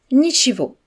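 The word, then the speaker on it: ничего: Pour répondre à des excuses, on peut dire simplement nhiivo, l'équivalent de ce n'est rien. Dans ce mot, on prononce le gu comme un V.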